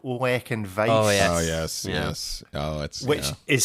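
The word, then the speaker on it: Ollech & Wajs: This is a brand called Olek and Weiss. Oh yes. Oh, which is spelled OLLECH and WAJS.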